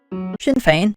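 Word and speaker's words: Sinn Féin: paying for their Manifesto printing by the word Shin Fane and yes I do know how to say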